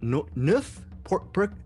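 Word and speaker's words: Neuf: He's renamed himself this week or this weekend Perk Nuff. Nuf, N-E-U-F? Is that how you say it? Nuf, I'm hoping. Yes.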